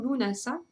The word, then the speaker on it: Lughnasadh: faut pas vous étonner sous plusieurs orthographes différentes qui se prononcent toutes de la même façon lunasa qui s'écrivent généralement lugnassad alors on va le trouver avec des h après le G et le D ou carrément sans h quelquefois on le voit aussi